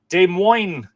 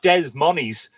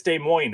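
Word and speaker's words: Des Moines: Mark Gordon is saying, "Good day from De Moine." Is that how you say it? I We had this conversation before, didn't we? It's not Dez Money's Dez Moes. I think it's De Moine, isn't it?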